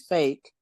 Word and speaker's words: PHEIC: and some have pointed out that means fake if you pronounce it.